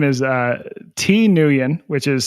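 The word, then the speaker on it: Thi Nguyen: His name is uh T Newion, which is spelled t h i space n g u ye n and he's up at the University of Utah.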